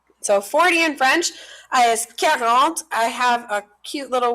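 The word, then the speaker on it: quarante: So 40 is how you pronounce this number, like you're caring for your aunt. So it's 40. So care and then aunt.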